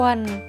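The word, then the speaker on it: quần: ว่า กระโปรง ต่อ มา นะ คะ คำ ว่า กวน กวน กวน แปล ว่า กางเกง คำ ว่า ควร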